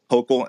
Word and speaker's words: Hochul: forward as you guys wait how do you pronounce her name? Is it Hochul? Hochul.